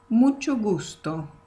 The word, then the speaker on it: mucho gusto: So even though it's two words, you can say it like this. Mucho gusto. So it sounds more connected one to the other.